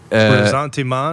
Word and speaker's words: ressentiment: Ressentiment? Yes, resentment. Yes. Yeah. You got to say it like it's French.